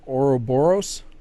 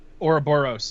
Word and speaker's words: Ouroboros: But it looks like that game, to be honest, but they're calling it, hopefully I can pronounce it right, Ouroboros. Ouroboros, yeah. Ouroboros.